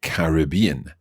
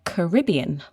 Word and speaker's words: Caribbean: Okay, now that's interesting because you said Caribbean, and in North America, that tends to be pronounced differently. That's right. In North American English, we say the Caribbean.